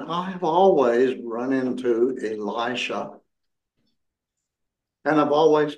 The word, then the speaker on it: Elisha: looked at pronunciation and so we're on good ground with Elisha but in particular in the Jewish Community they do pronounce it Alisa so if you hear